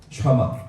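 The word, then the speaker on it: שמע: 쉰 이도 좀 쉰 발음이에요. 오른쪽에 있으면 점이, 왼쪽에 있으면 신이에요. 신. 미음 소리죠. 아 소리입니다.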